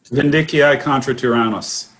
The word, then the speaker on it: Vindiciae contra tyrannos: So the discussion is going to be on pronounce it for me again. Vindiciae contra tyrannos.